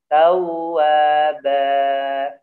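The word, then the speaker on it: تَوَّابًا: tawwaba. Gitu ya, tidak boleh ba.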